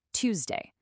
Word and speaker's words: Tuesday: Now, the pronunciation, this is an interesting one. It can change a bit depending on where you are. I say it with a U sound, Tuesday.